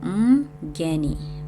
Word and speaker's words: mgeni: So in the first section, this is how you'd pronounce these words. So mgeni, mgeni, mgeni, visitor, mgeni. The second one, mtoto, mtoto, child. And then the last one, mtu, mtu, person, okay?